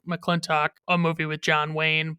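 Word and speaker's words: McLintock: in another childhood favorite, McClintock or McClintock, whichever way you want to pronounce it. They pronounce it McClintock in the movie, but it's like I pronounce it McClintock when I'm saying the name of the movie.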